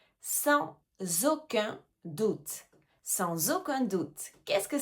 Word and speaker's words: sans aucun doute: Sans aucun doute. He, on fait bien la liaison. Sans aucun le S est suivi d'une voyelle. Sans aucun doute.